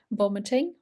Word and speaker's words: vomiting: Vomiting, remember that hard V sound, vomiting.